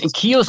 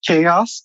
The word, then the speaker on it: Keos: Yeah, we're French people, so we thought it would be pronounced chaos, but we realized after it's actually pronounced Keos, so we're dealing with this right now.